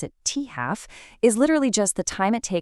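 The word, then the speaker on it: t½: So half-life, which is written as a T with a little half subscript, and we pronounce it T-half, is literally just the time it takes for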